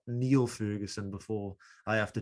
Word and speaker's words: Niall: that actually because i i pronounced my name neil too it's the irish who say nile and the scots say neil it's the same name as neil but i think we